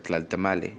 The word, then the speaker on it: Tlaltamalli: will real está mal se escribe está el tema allí pero se pronuncia tal está mal el cual se traduciría